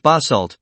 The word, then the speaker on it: basalt: Dark lava rock of this kind, known as basalt, pronounced basalt, is also found here on Earth.